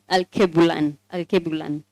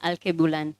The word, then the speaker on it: Alkebulan: Alkebulan inamaanisha Garden of Eden ama the mother of all mankind. Okay. Sawa. Alkebulan. Yes. That's how it's pronounced. Yes. Alkebulan.